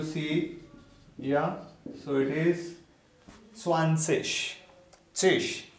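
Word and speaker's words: zwanzig: Yeah, so it is swansish, tish. IG at the end will be pronounced as ish sound, swansish, fertish.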